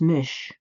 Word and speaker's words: Mis: Madness the old Irish story of Miss pronounced Mish tells of a woman